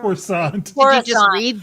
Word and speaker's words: Coruscant: Croissant. Again, I think it depends on where you're from. Coruscant. Did you just Coruscant. read these? Coruscant. Coruscant. Living with Frog Lady and Husband, or Real Twi'leks of Coruscant.